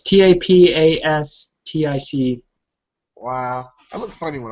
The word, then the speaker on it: Tapastic: gonna put it on Taptastic or Tapastic. How it's spelled without the T, but I keep wanting to say Tapastic is what it's called, but I keep wanting to say Taptastic.